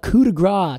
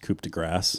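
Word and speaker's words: coup de grâce: real the real uh coup de gras to tell them apart is the cone I don't mean to embarrass you but it's pronounced coup de grass oh I'm sorry cooped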